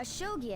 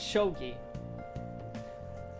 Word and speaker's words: shogi: Anyway, a shogi expert, huh? Oh, it's shogi. I apologize for pronouncing it incorrectly.